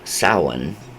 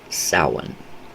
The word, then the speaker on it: Samhain: you know this particular practice this idea of Sauron which that's how it's pronounced uh is very significant to the the